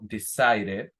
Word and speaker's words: decided: Por ejemplo, si tengo el verbo decided, pronuncio la e, decided. If I have the verb, for example, planted, I say planted.